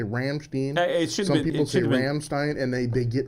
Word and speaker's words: Rammstein: I&E in german mm-hmm you always pronounce the second letter mmm always okay so rams Rammstein Rammstein I with an eye because it's II I right hmm interesting